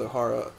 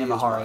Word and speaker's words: Imahara: Now, in memory of the late Grant O'Hara. Grant Imahara, yeah.